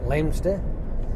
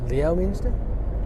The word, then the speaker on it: Leominster: Sort of like, I've got a feeling I was heading towards the likes of Leominster, even though it's spelt Leominster.